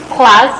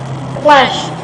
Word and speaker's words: class: Some of you still pronounce class, you know, classroom as clash. That is not clash, okay.